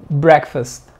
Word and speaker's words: breakfast: de bill bray first no digas breakfast porque no es una isla y el sonido del agua es breakfast breakfast no es fast ni es fest es fast fast les decía que el